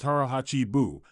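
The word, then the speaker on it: 腹八分: The third distinctive practice of Japanese elders involves a powerful approach to eating known as harachi biu, pronounced harah hachi buu, which roughly translates to eat until you are 80% full.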